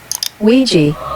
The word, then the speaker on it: Ouija: It may seem unrelated, but I've asked a data analyst expert to give us the proper pronunciation of this word. Ouija.